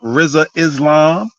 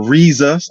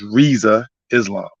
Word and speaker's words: Rizza Islam: up to the brother Rizza Islam or rizas I think he always says his name is pronounced Riza but it looks like on the spelling Rizza so he doesn't trip